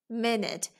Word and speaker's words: minute: It, minute. This E is silent. We will not pronounce it at all. The word is minute.